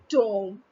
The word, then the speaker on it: tomb: If you have any doubt regarding the spelling or the rhyming of come and tomb, you may just pronounce tomb as tome. So it will rhyme with come and tome.